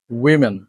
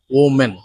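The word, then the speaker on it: women: number six পিচ্চা পিচ্চা not pizza পিচ্চা পিচ্চা উইমেন উইমেন নট ওম্যান singular form of this word is ওম্যান that's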